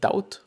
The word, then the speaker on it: doubt: self doubt or doubt is it doubt I think this is actually a silent B could this be the